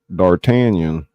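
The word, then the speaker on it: D'Artagnan: Dartanion. They said Dartanion. Not Dartanion.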